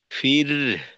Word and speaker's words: واستغفر: واستغفر আচ্ছা, এখানে ফির, এখানেও কিন্তু হায়ের উচ্চারণ বাদ পড়ে না যায়, লক্ষ্য রাখতে হবে। ফির, ফির, এরকম।